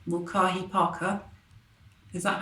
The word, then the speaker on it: Mulcahy: So it's curated by Geraldine Mulcahy, I can't pronounce her name, Mulcahy Parker.